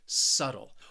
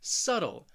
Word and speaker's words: subtle: often mispronounced and it's because of that be it is a silent letter a silent b you are not going to hear it subtle also remember i'm from the united states so that t i'm really saying a flap t which almost sounds like a very soft d sound it's a very subtle